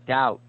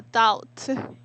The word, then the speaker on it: doubt: Oh, doubt. A doubt. Dow. Doubt Dow. person. The B is silent.